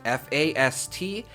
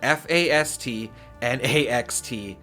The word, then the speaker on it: Fastnacht: Fastnachts, pronounced Fastnaxt. Fastnacht. I think I finally got it, ladies and gentlemen. Fastnaxt.